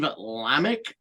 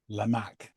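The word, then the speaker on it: Lamacq: show's host DJ Steve lamic uh described the sound what what is it lamak lamak thank you I put the wrong emphasis on the wrong syllable um describe he described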